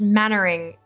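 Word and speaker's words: Mainwaring: heard exactly Captain M main wearing from Dad's Army pronounced mannering interesting interesting Pro it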